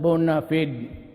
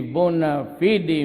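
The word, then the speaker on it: bona fide: Bona media Bona media sometimes they pronounce it bonafed but whatever ever the thing is the bua fidi media has always been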